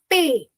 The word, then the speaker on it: P: And then we have P, which is pay. Just for example, take an example. You say pay for your bill. Pay your say grocery bill or rent bill, right? Similarly, you're going to pronounce P as pay. Just remember this English word which means pay, and that is how you pronounce P in French. P is pay.